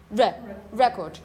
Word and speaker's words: record: So you say, you have a pronunciation here, record. Remember, this comma, apparently there, indicates that this is a stressed syllable.